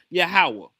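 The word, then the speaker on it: יהוה: Every time you see the Lord in the English Bible it's in place of the tetragramm Y HWH which is supposed to be pronounced Yahawah.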